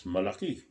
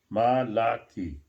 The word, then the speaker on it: malaki: you say big that's malaki malaki how do you spell that ma lucky different than malachi malaki yeah almost the same there's ai always being